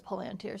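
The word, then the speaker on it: palantír: I'm always inclined to pronounce it palanteer cuz there's an accent on this eye, but in the movie, Gandalf says palanteer, so I guess we're going with that.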